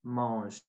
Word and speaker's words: mange: saw with Marco, je mange. I put my mouth like I'm gonna say you, but I say je. And the E in the final, at the end of mange, it's not pronounced.